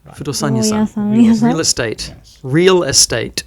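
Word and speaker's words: 不動産屋さん: 不動産屋さん Fudosan-yasan. Fudosan-yasan.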